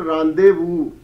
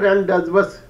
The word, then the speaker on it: rendezvous: heard this word under pronunciation rendezvous not rented was but a person if